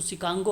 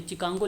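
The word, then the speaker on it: Chicago: लिख दिया गया है, ये शिकागो इसका पूरा नाम है। अच्छा, प्रोनाउंसिएशन शिकागो से होता है। जैसे काई स्क्वायर है ना, तो काई स्क्वायर में यहाँ पे देखिए CHI होता है, इसको काई बोला जाता है ना। अब आप लोग कहेंगे ची होता है, ये तो नहीं, ये प्रोनाउंसिएशन इसको काई के नाम से, उसी प्रकार से शिकागो बोला जाता है, इस तरीके से लिखा जाता है।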